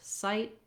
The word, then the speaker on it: sight: And then when we say words with T in American English like sight, we often don't really release that T. So it's called a stopped T. I might not say sight with a burst of air, but rather just sight. I lift the tongue and I don't let anything out.